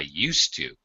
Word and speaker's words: used to: Used to, S sound, to talk about a past habit.